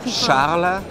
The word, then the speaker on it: Charles: names sh and Philip both of them you don't pronounce the last letter that's right can you say it correctly for us so Charla Charla is my first